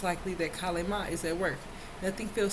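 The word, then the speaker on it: Kali Ma: Hindu goddess Kale Ma, pronounced Kale Ma, is a fierce powerhouse of a creative feminine life force, or Shakti energy, the ultimate spiritual transformer.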